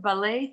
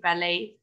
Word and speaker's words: ballet: The word ballet, T is silent. ما بحكي ballet, ballet, T is silent.